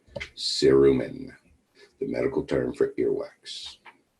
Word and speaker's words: cerumen: wax that's the test question is how it's pronounced cerumen the medical term for earwax now some people